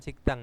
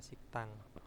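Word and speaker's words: 식당: siktak ya Oh siktak sikdang ini bacanya bukan sigikdang ya siktang ya Nah karena apa di sini ada ee kiok bertemu dengan Diget maka digetnya ini akan berubah menjadi sang Diget atau double Diget jadi digetnya itu dnya Ini dibaca dengan t gitu ya jadi Bacanya adalah siktang Nah siktang apa rumah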